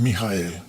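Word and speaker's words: Mikha'el: en castellano es Miguel si vamos al hebreo y luego pronunciamos en nuestro idioma es mijael que cuando los creyentes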